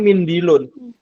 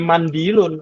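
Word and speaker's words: مِنْدِيل: I kan t kitaaj ini cara bacanya mindilun Ya yang Ar tisu atau serbet maka sampai nanti Jangan dirubah menjadi mandilun atau mundulun Ya jelas ya jadi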